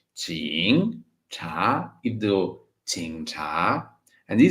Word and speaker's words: 警察: Yes, 警, stronger nasal pronunciation, 英 and 茶, 警察.